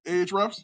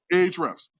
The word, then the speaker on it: Ahrefs: age refs is that is that people call it ahrefs yep all right ahrefs so ah reps same very similar to